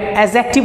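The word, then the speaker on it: adjective: एजेक्टिव होता है D silent होता है, ओके एजेक्टिव।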